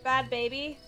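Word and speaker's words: Bhad Bhabie: Bad baby. America.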